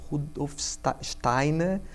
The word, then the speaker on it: Steiner: Sim, a antroposofia é uma abordagem pedagógica, como eu falei, ela é baseada nas ideias de um alemão chamado Rudolf Steiner, que é a pronúncia certa.